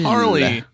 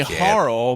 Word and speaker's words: Harle: her her name is I always want to say harl but I got corrected last time it's Harley it's harl I say Al but we can the game doesn't tell you how to pronounce it so honestly all answers